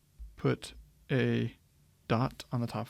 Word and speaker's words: pi: don't be confused here this is technically pronounced as you would say this letter P as English speakers were used to calling this Pi but this is really